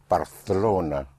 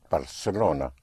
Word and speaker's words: Barcelona: parts of Spain, where the C in front of an E or I is pronounced like a TH in English, like in Barcelona.